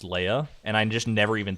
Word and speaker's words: Leah: And then some people in chat were like, "Oh, I like how you say her name is like Leia instead of Leah, like it's actually supposed to be."